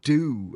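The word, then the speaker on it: Doo: After MixOfDiz, we've got a band called Do, and the song is called Shelter Me. Now, Do is spelled D-O-O.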